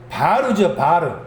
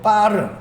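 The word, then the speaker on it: בר: 여기 잠언 31절 2절 말씀에서 아들은 바르죠. 바르 혹은 빠르. 강하게 발음하면 빠르가 되겠죠.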